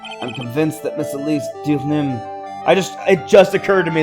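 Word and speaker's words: Deauxnim: I'm convinced that Miss Elise Dioxnim... It just occurred to me that the way to pronounce her name is Dioxnim.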